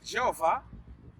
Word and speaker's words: Jeová: terceira pista para poder javé chamá-lo o filho é o novo a pronúncia é jeová e e eu acho